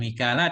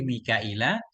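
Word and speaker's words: ميكائيل: qiraah itu Mikail Mikaila bacanya bukan Mikala tapi Mikaila bihamin dengan pakai Hamzah Wain dan dengan pakai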